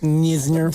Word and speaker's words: Knizner: This guy, it's Knizner, and he goes with Kisner. Nisner. Somebody just threw an N in there.